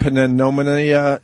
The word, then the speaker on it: pneumonia: to get I would pneumonia. rather get swine flu than pneumonia. How do you say that PN thing? Pneumonia. Pneumonia. That's how it's pronounced. Pneumonia. There's a P in front. Pneumonia.